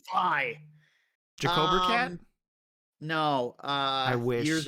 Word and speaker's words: Vi: long time, I was pronouncing Vi as V to the point where I was playing with people and they would get pissed at me. Who? Like, it's Vi.